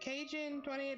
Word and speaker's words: Kaijun28: Is it Cajun28 or Kaijin28? Thank you so much. Like Kaiju. Oh, okay. So Kaijun28.